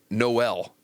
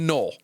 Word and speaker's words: Noel: from Washington State and Jaylen Noel or Jaylen Null, not quite sure on the pronunciation there quite yet. Uh from Iowa State. The latter. The latter. So Jaylen Null.